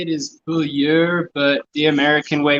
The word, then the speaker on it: Beaulieu: to say it is Beulieu, but the American way we say it is Beulieu. Wait, really? Yeah. So at the World Roundup, when they pronounce your name like way off, it's actually correct.